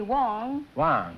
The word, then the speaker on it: Wang: Well, the Chinese call me "Wong," and the Koreans call me "Hwang," and the Americans call me "Wang," but my name is "Hwang," GROUCHO MARX: "Hwang."